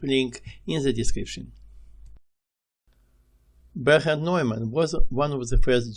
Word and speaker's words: Neumann: Professor Neumann, or maybe Newman using English pronunciation rules, spent most of his mathematical life in Australia, so I will take a few minutes telling about him.